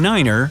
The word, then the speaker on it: nine: Tree stands for 3, fower is 4, fife is 5, and niner means 9. No, your captain doesn't have marshmallows in his mouth. Such pronunciation helps to avoid radio miscommunications and the confusion caused by similar-sounding numbers and words.